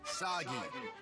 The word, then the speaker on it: Sagi: Cliche burden boy of action who will save us all is named Sagi. This is kind of overdue, but I'm Sagi. Rhymes with Saki.